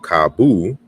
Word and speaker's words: cabo: and then we have kabu, right? So we have there's a correspondence here, and the final O is pronounced U in Portuguese.